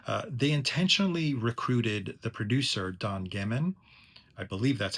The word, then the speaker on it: Don Gehman: They intentionally recruited the producer, Don Gehman, I believe that's how you pronounce his name, because they wanted to move